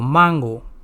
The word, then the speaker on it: mango: Spanish for mango is mango, not mango, mango. I have already said that A in Spanish would always be pronounced as A.